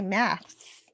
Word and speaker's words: maths: In the UK, we say maths with an S, maths.